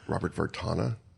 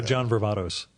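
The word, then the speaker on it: John Varvatos: front of CBGB's, which is now, I think, Robert Vartana. I'm not sure if I'm pronouncing it properly, but it's a very high-end men's clothing store. John Vervatos.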